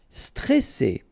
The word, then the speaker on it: stressé: Okay, remember you've got double S here, so you pronounce it really strong. Well, it's between two vowels. So C, all right. And then here you get this E before the double S, so it will open the pronunciation of the E.